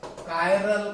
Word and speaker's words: chiral: Asymmetric carbon atom का मतलब कायरल carbon atom, not ए, ये CH है, की बोलेंगे इसको अपन, ची नहीं बोलेंगे. इट is called a कायरल carbon. The pronunciation कायरल.